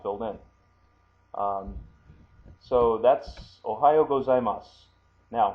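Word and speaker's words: おはようございます: So that's Ohayo gozaimasu. Now, when you hear that, you don't hear the su on the end as you see written here.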